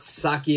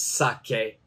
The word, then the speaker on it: sake: call it saki right and even that the pronunciation is wrong it's not saki but it's sake Sak and sake actually means alcohol it doesn't